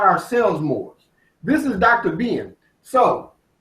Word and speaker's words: Moor: It's pronounced Moor.